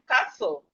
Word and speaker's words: castle: We have castle. Castle. The T here is also silent.